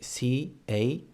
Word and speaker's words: carro: For example, in the word carro. In this case, we have the spelling would be in English C-A-R-R-O. In català, C-A-R-R-O, carro.